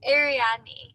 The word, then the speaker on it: Ariadne: Ariadne.